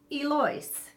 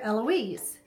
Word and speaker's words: Eloise: not Judith so but my mom spells her name like Eloise but she pronounces it alloys and her mother used to get mad when people would call her Eloise so now my mother